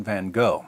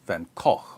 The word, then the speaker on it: Van Gogh: sanity of Dutch painter Vincent van Gogh or van Koch or van ho or Van Gogh depending on where you're from and how far you want to deviate from the authentic American pronunciation according to Mclean Van